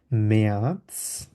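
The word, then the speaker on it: März: তো চাইলে আমরা আরটা রেখেও বলতে পারি অথবা আর উজ্জ্ব করেও বলতে পারি, ইয়ানুয়া, ফেব্রুয়া, ফেব্রুয়া, মেয়াদস, যেহেতু আয়ের উপর উমলাউট আছে এর মতো উচ্চারণ করব, আর এটাকে যেহেতু সেট ওই জন্য এস এর মতো উচ্চারণ করব।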